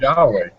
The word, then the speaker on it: Yahweh: It's a mispronunciation of a bad translation. Yeah. You know, it was, you know, But if the Hebrews refer to the name as Yahweh.